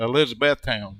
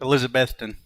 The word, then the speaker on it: Elizabethton: yeah okay so um is that how you pronounce that i said i i was saying elizabethtown but elizabethton yeah win yeah well you